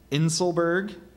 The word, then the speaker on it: inselberg: an overlapping its slopes are there any alternate pronunciations so there's inselberg inselberg inselberg and inselberg um may I have